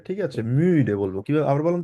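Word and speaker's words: müde: মুডে এক্সাক্টলি ডুবাস মুডে মিডে এটা মুডে হবে না এটা যেহেতু ইউ এর উপরে উমলা উঠাইছে ওই জন্য বলবে হচ্ছে মিডে একটু বলা যায় ঠোঁটটা থাকবে হচ্ছে একদম কিছুটা গোল টাইপের ঠিক আছে মিউ ডে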